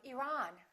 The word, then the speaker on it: Iran: say iran or iran it should be the second one he's from iran he's from iran let's look at the